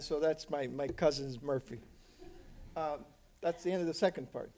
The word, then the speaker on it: Murphy: your last name and she said morphe I said what Murphy see see Murphy he very close most of the way that the Irish pronounce Murphy now so I said